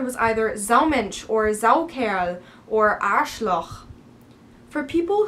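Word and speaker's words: Saukerl: humiliate is a female Zell Cal pronounced Zell care is for a male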